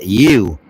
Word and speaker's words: YHW: If you want to pronounce it, it's pronounced U.